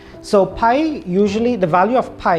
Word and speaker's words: pi: we're dealing with circles there is this symbol which is a greek letter and it's pronounced pi so pi usually the value of